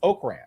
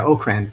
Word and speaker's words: Okrand: and by the way, his last name is pronounced Okrand. Am I correct on that, Mark? Yeah, Okrand, right. Right. It's Okrand and not Okrand.